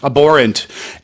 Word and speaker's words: abhorrent: called the abhorrent killing abhorrent a b h o RR e NT so that h is a silent h isn't it and it means inappropriate